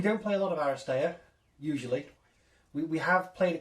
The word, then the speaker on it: Aristeia: And we're going to play Aristeia. You didn't say it right. Well, go on. You've got to go, Aristeia! Aristeia! It's got an exclamation mark at the end Yes, and everything.